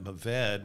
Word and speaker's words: Mourvèdre: And then you go down and you got Mourvèd, which is looks like it's spelled Mourvèdre.